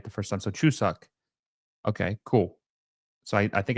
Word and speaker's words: Chuseok: So Chuseok. Okay, cool. So I think I did pronounce that right the first time.